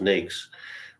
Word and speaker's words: NAICS: NAICS, pronounced NAICS, rhymes with snakes.